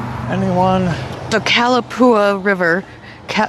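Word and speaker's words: Calapooia: How do you pronounce that? The Cal Calapoua Calapoua Calapoua.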